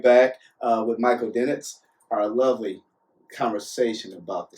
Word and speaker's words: Dinetz: We'll be right back with Michael Dinetz. I said it right? See, I messed up. Time out again. Dinetz.